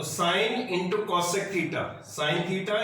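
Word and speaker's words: sine: तो देखो साइन को साइन ही बोलते हैं, इसको प्रोनाउंसिएशन भी इसका बेटा साइन ही रहता है, ठीक है, सिन नहीं होता। बहुत बच्चे इसको सिन थीटा रीड करते हैं, ठीक है, इसको सिन नहीं पढ़ना है, इसको क्या पढ़ना है, साइन। इसको प्रोनाउंसिएशन जो है साइन थीटा ही है।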